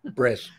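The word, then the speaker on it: Bresse: Bress. North American Bress. The E is silent on the end. Yeah. Just like the S in Marant. So there's a draft standard that's in the works.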